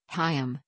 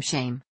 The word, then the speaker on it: Chaim: the English producers were unable to pronounce the voiceless uvular fricative consonant head at the beginning of his first name, Haym, instead calling him Shame.